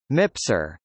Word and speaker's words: MPSR: The backroom was formerly called the Staff Support Room (SSR) and is now called the Multipurpose Support Room (MPSR), pronounced MIPSR.